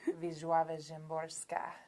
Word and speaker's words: Wisława Szymborska: Wisława Szymborska. Oh, okay. They have a pronunciation guide in the front of her book.